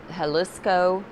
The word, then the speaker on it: Jalisco: in mexico and it's i'm sure i'll mispronounce it but it's uh jalisco it's j-a-l but i think it's pronounced h um but anyway that's um